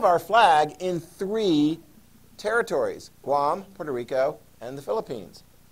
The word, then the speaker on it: Guam: rested away from spain rhymes with mom guam there we go okay